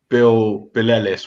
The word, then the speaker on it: Billelis: It's Bill Ellis, one word, but I'm called Billy. Artist name Bill Ellis. Not Billie Eilish, not Belle and Eyelash, just Bill Ellis.